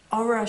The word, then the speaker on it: Ohra: I cast on, it was like 2 weeks ago, I think, the Ohra Shawl. It's actually pronounced with a heavy H, but I can't say it.